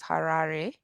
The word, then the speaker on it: Harare: well yeah but it pronounced when it is pronounced it is Harare um yeah okay so which part of Brazil